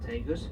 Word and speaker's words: Tagus: river Tagus we spell it in english t-80us pronounced tegus in english patent spade is ta j openers